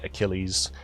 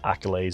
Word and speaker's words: Achilles: writer also that teacher mispronounced the very common word achilles and kept saying accolades so i was never